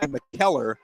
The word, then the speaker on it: McKellar: at the 44-yard line I've been saying the killer but I think my McKellar yeah killer so forgive me uh